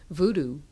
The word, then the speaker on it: Vodou: talking about and then if you say oh the thing that people call voodoo well right away they